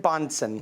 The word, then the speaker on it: Bansson: It's Bansson. Bansson. Thank you so much. My apologies for mispronouncing it.